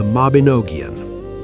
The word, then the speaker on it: Mabinogion: And the greatest stories he told became the collection we now call the Mabinogion, pronounced roughly mob-in-o-gee-on.